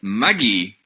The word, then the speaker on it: Magi: watching with Dan called Maggie. At least I think that's how to say it. That's how they say it in Japanese.